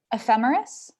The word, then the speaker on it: ephemeris: pronounce this for me i always pronounced a femoris like that is that right see this again ephemeris ephemerides femerity's for the plural yes okay what's that